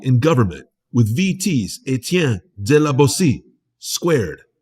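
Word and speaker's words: de la Boétie: Criminality in Government with VT's Etienne de la Bossy, squared, right here, right now, on VT Radio. Let's go. With host Johnny Punish. Okay, we're back on VT Radio with the fantastic Etienne de la Bossy.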